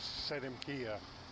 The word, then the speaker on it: Seldem: Chief Stumbling Bear, in the Kiowa language, it's Seldem is how you pronounce Stumbling Bear.